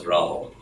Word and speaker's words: Rahul: So I remind people that 99% of this country can pronounce Bobby Hull. They can also pronounce Rahul.